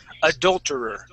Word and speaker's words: adulterer: Instead of saying adu, Okay, we're going to use adul. Okay, so it's going to be a short U sound. Adulterer.